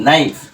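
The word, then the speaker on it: knife: এন আই এফ ই নাইফ এখানেও দেখো এটা কিন্তু সাইলেন্ট রয়েছে কে সাইলেন্ট থাকার পর তারপর এন আই এফ ই নাইফ এখান থেকে উচ্চারণ শুরু হয়েছে দেখো এন টা কি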